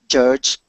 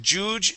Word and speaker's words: judge: Judge. Good. Instead of juge, it is judge.